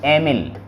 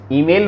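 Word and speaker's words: Emil: और ये है से वी सेजर, दे वी डोरा, डोरा, ए वी एमिल, है ना? ईमेल मत बोल देना, एमिल है वो, ईमेल नहीं है।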